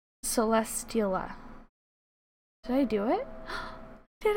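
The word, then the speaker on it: Celesteela: trouble pronouncing it because i want to say celestial but then there's an a at the end and it throws me off but then i also know it's steel so celestiala did i do it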